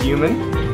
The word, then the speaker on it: Yuman: My name's Yuman. Yuman? Yep. Rhymes with human.